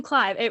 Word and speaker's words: Clive: clive correct i'm clive my name rhymes with jive jive clive i don't know if